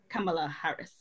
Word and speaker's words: Kamala Harris: So Jay, tell us a little bit about who is Kamala Harris.